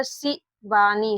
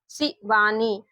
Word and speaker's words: शिवानी: एस एस से स अब देखिए इसको क्या पढ़ा सी वाणी सी इसका उच्चारण हम लोग ऐसे नहीं कर रहे हैं शिवानी तो देखिए यहां पर